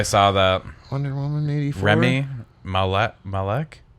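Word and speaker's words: Rami Malek: Remy Malek? I think it's Malik, him. I think. Yeah. Remy Malik. That's how you say it.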